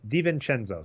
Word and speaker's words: DiVincenzo: Pronunciation is it's DiVincenzo.